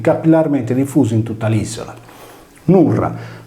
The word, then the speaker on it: Nurra: Nurra, con la consonante R rafforzata nel suono, è inoltre un cognome sardo.